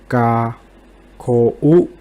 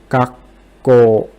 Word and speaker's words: 学校: And in here, the correct pronunciation is the number 3. Gakko.